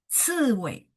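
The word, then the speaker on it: 刺猬: Kemudian di bawahnya ciwei, ciwei. CI ya nada empat, ci, ciwei, landak.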